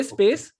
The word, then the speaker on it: space: Samosa correctly and then they will say space because of their um you know misunderstanding that it is es it is not es it is just s okay the worst uh